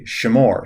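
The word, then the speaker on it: שמור: would be creating the imperative like you say shamur so we're going to start using more imperatives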